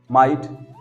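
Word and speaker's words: might: माइट, जीएच आ गया, silent हो गया, और आई के बाद जीएसटी है, माइट। अगला, ये तो हो गया नियम, हमने देख लिया, जीएसटी आए तो जीएच हमेशा क्या होता है? साइलेंट होता है।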